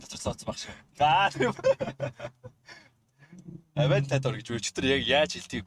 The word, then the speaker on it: Aventador: Авентадор гэж өчтөр яг яаж хэлтгийг гуглдлаа шүү дээ. Autopronounce AVNT Aventador.